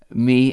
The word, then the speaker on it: mi: Me, M-I, it means I or me. Pronounced the same way. Me in English, me in Welsh, me.